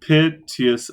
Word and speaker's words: piteous: Whose misadventured piteous overthrows. I'm right. You just have to say piteous as a 2-syllable word. Piteous. And then it's 10.